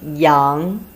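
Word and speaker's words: 阳: The pronunciation in Chinese is yang.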